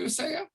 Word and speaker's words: Uzziah: Am I pronouncing that correctly, Uzziah?